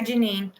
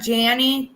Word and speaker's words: Janine: So I tried hi Janine. I tried. So her name is not Janny, guys. Her name is Janine.